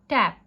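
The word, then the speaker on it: tape: Long पढ़ेंगे टू, एप, टेप, एन ई is silent, so इट्स टेप, टैप, टेप.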